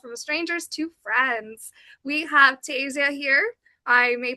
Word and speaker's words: Tasia: But Tasia Tas Oh my gosh, I'm already doing it. Tasa. There we go.